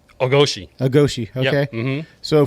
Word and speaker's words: Ogoshi: Ogoshi.